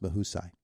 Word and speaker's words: Mahusay: m a u s a y and it's pronounced mahai okay all righty it's Indiana in the morning